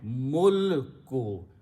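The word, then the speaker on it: الْمُلْكُ: Very important thing is that you have to make sure that you pronounce this lam with a sukoon on it, mulko. If you mispronounce, the meaning will change, because malak is a different meaning.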